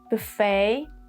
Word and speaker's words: buffet: And when we have e t at the end of words, the sound of this e t is a like in buffet, gourmet, and ballet.